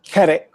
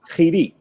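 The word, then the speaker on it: חִירִיק: It's not kerek, it's chirik. So remember, the chirik makes the E sound.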